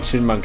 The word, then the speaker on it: Chin Monk: Especially now since this one girl earlier confirmed that the Y in Chin Monk is silent.